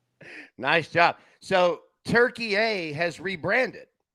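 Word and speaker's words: Türkiye: They are going by the real correct pronunciation in Turkey A. That's been geopolitical talk. Nice job. So Turkey A has rebranded. Yeah, you can call it Turkey, but it's really Turkey A.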